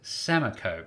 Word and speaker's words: Samakow: My last name is pronounced Samakow. Samakow.